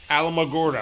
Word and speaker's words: Alamogordo: How do you say that name? Alamogordo? Alamogordo? Yeah. Alamogordo. Okay.